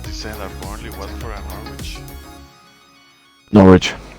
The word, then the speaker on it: Norwich: And the ones that descend are Burnley, Watford, and Norwich. Norwich, not Norwich, Norwich, Norwich. Norwich. Sorry, yeah. You don't pronounce the W.